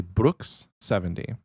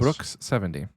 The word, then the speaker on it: Broix70: The pronunciation of his name is actually Brooks70. You got to throw the little. It's like Brooks, like a brook, a river. That makes sense. Brooks70.